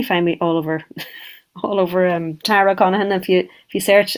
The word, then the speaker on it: Connaghan: Yeah, you would definitely find me all over, Tara Connaghan. If you search, it's like Monaghan with a C, but there's the G is silent in the middle, so it's CONNAGHAN.